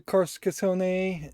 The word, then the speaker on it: Carcassonne: I think it's pronounced that way, but I probably will half the time call it Carcassonne, which also might be an acceptable way to pronounce it.